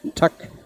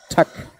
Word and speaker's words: tak: In Denmark, thank you, it's just tak. T-A-K. Tak. Or you pronounce it just like tic-tac. So, tak. Oh, it's for rolling the dice.